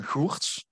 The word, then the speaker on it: Goertz: on my ideas uh my name is hortz so it's pronounced pretty Dutch to be honest um I am an